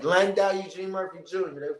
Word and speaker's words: Landau: how do you say that I was like glendow Eugene Murphy Jr they like okay yes oh